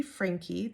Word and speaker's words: Franke: But with this family, 8 Passengers, and the mom's name is Ruby Franke. Their last name is Franke, Franke. Some people pronounce it Frank, but I've mostly heard it Frankie, so that's how I pronounce it.